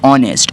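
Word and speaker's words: honest: है हमारे पास लेकिन एच से स्टार्ट होता है, एच हमारे पास कॉन्सोनेंट है, लेकिन हम इसके साथ एन लगाते हैं, एन ऑनेस्ट, क्योंकि इसकी प्रोनाउंसिएशन है ऑनेस्ट, ओ से स्टार्ट होता है, तो ओ हमारे पास वोवल है, that's why वी यूज़ an article with ऑनेस्ट।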